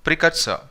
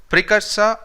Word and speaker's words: precursor: Our first word is precursor. Precursor or precursor. You can either pronounce R or you can neglect it.